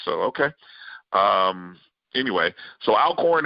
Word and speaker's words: Alcorn: okay um anyway so I'll corn in two syllable Alcorn State vs Jackson State